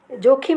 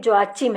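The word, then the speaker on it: Joachim: और ये जोखिम नहीं, जोआचिम है। कुछ इंग्लिश में स्पेलिंग ऐसी है कि वो जोखिम भी हम उसको पढ़ सकते हैं, पर पिता का नाम मरियम के जो आचिम था।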